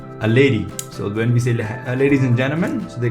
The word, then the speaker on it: C: c in english but in german it's pronounced as say like in cell if you remove l it's cell so say